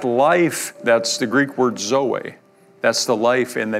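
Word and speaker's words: ζωή: word life is this word right here is pronounced Zoe it's the nature of God it's the life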